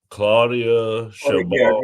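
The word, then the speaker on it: Claudia Sheinbaum: Her name is Claudia Chabot.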